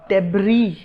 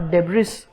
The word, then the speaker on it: debris: तो जो भी इस तरह का आपको वेस्ट चीज़ दिखे उसको हम बोलते हैं डेब्री, नॉट डेब्रिस। तो देखिए ये डेब्रिस ना होके डेब्री होता है, डेब्री।